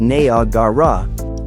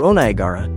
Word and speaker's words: Niagara: Properly pronounced na garra or onagara is as fatal as it is fascinating, beautiful,